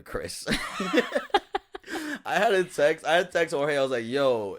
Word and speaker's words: Krys: but her name graces not spelled like a regular Chris I had a yo it's pronounced Chris right people people think it's cries yeah I was like